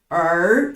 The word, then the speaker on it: 儿: 下一个字儿，它标准读音是儿啊，儿子、女儿、儿童。